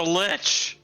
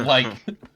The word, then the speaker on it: lich: to go it's a litch no it's a like it's a like it's pronounced it's a like lichen and likes can i roll arcana